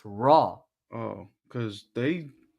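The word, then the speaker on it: Roy: Raw's name wrong because all they say Wah. It's Raw. Everyone says Wah. It's Raw. It's French. It's R O Y is how you spell his name. It just sounds like Wah, but it's not.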